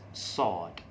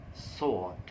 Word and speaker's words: sword: to rephrase again that sword sword okay we do not sound the w there because w is silent so we sound it sword the soul is the